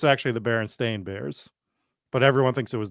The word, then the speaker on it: Berenstain Bears: It's pronounced differently, right? Is that what it is? It's actually the Berenstain Bears, but everyone thinks it was the Berenstein Bears.